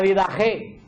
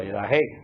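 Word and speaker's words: Didaché: Se escribe, hay gente que escribe didache y hay gente que escribe didaje. Yo lo leo en español.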